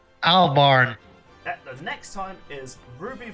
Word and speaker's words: Albarn: Uh, how do you pronounce Maka's last name? Albarn.